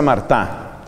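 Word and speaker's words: Martin: apellidos de los esposos de apellido martín se escribe aunque en francés se pronuncia marta los esposos marta fueron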